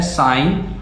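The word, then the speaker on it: sine: बहुत से बच्चे इसको सिन पढ़ते हैं, बट बेटा आपको थोड़ा प्रोनाउंसिएशन सही करना है, इसको सिन नहीं पढ़ते, इसको साइन पढ़ते हैं।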